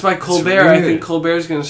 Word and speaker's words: Colbert: He's keeping the pronunciation of his name. Colbert. Colbert.